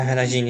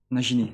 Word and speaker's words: Nagini: Ai, a Regine, é. Tipo, É, né? É Nagini. Nagini? a Regine, é, a cobra. Nossa, você pronuncia errado.